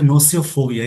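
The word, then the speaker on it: gnosiophobia: अगला वर्ड है नोसियोफोबिया, इसमें जी साइलेंट होता है, जिसका मतलब होता है नॉलेज से डर।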